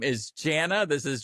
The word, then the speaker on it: Jana: Her name is Jana. This is Jana Shelfer. Thank you for coming on the show. Rhymes with banana.